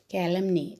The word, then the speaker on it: calumny: everything to calumny children have you noticed the pronunciation calendar calendar ca mny calumny a year now since